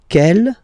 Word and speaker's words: quelle: And then the feminine form is written like that, Q-U-E-L-L-E, but it's pronounced like the masculine form. Quel at the masculine, quel at the feminine.